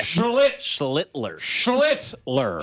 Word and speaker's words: Schlittler: got to be careful when It's you say Schiffler? No, it's. I'm not say his name. That's his name. Schittler. Yeah, that's his name. That's his name. I can say that. It's Schlitt. Yeah, Schlittler.